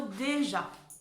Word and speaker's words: déjà: Et ja, évidemment, pour faire le son je avec le A, on se souvient que c'est un J. Sinon, ça ferait ga.